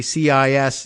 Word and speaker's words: CIS: And it occurs to me as I'm reading, the Center for Internet Security, CIS, is also could be pronounced cis, like as in cisgender, which Elon Musk just